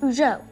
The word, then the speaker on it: Uggo: Actually, it's pronounced Ujo.